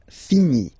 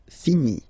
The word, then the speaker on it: finis: Je finis. Remember, final S is not pronounced. Je finis.